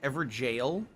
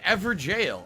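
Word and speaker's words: Evergaol: every goal is pronounced ever jail you're supposed to say it like jail oh that's the uk spelling of jail i didn't know that so it's ever jail i had no idea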